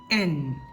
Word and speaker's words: ൻ: എൻ എന്ന ചില്ലക്ഷരമായി എൻ എൻ ഇംഗ്ലീഷിലെ എൻ എന്ന അക്ഷരത്തിന്റെ അതേ ഉച്ചാരണം തന്നെയാണ് ഇതിനും വരുന്നത് എൻ എൻ വരുന്ന വാക്കുകളാണ്